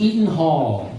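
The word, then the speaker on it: Eden Hall: I was pretty generous, so if you said something like E something Hall, like it was spelled with a D, but it also was pronounced with a T.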